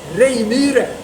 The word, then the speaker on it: Reijmyre: Reijmyre, as it's pronounced in Swedish.